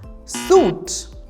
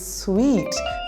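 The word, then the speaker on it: suite: word so how do you pronounce this one suit the correct pronunciation is sweet they booked a site for the honeymoon moving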